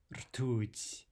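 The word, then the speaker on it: ртуть: Mercury is rtuť. Rtuť. How many syllables? One syllable only, right? Ooh, only one vowel. That means one syllable.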